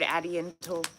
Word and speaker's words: Addy INTL: Which I pronounce as Addy International. I've also heard Addy Intel. I always knew it was Addy International.